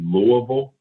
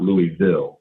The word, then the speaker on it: Louisville: It's technically Louisville and not Louisville.